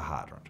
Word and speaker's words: hydrant: it to a fire hydrant fire with a big arching I sounded hydrant with two distinct syllables hydrant good on you